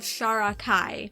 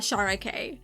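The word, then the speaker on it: Sharakhai: Oh shoot, I think I just did it again because I have been mispronouncing this title the entire time. It's 12 Kings of Sharakai, not Sharakai.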